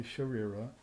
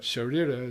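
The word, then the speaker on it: शरीर: But Sharira is hard enough to pronounce, but it's because you have to roll the R's in Sanskrit once, not like a Spanish R.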